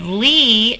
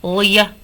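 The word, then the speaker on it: -ly: If you said Lee, you got it right. So instead of Lia, it's not Lia, it's Lee. When the Y is at the end, it says E.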